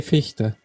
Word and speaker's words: Fichte: However you say it, the spelling is Yeah, we'd say Fichte.